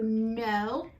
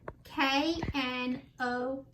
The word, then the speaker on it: know: And the K is silent. So know, K-N-O-W, know.